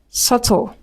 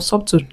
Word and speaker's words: subtle: we have debt, indebted, subtle, det. So you do not pronounce the B in between. Do not say depth or inepted or sub to no. You pronounce it without the B.